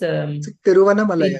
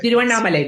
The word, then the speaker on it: Tiruvannamalai: It is spelled Ginge. Which district? Where is it near? It is Tiruvannamalai. Tiruvannamalai district.